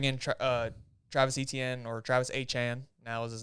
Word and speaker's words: Etienne: You bring in Travis Etienne, or Travis Achan, now is his name pronounced.